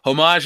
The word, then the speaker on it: homage: remember boys and girls homage is spelled with an H and just like that H keeps silent thanks razor thanks razor